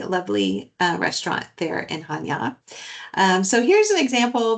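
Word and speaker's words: Chania: Um the first city we're visiting is Hanya. Uh it's a ch, but you just kind of pronounce the h. Ha.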